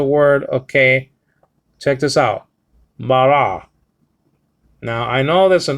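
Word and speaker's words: בָּרָא: a word and sorry you pronounce it by putting the tongue against the roof the back part of the roof of your mouth okay and so BA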